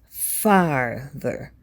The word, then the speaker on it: farther: they do sound differently when you say farther be sure to emphasize the a it's farther farther not farther and